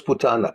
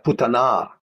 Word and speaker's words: Putana: que tener otros porque putana no es putana putana un accento al final la aceptó como madre